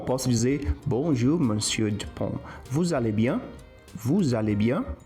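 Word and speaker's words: vous allez: Percebe que o vu com al eu não pronuncio o s de vu, mas se eu junto os dois, né, pelo fato do termo al começar com vogal, o som do s ele vai vi. Então valeian.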